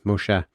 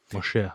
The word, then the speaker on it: Moshe: Moshe. Moshe. Sorry. I was using the Greek I pronunciation.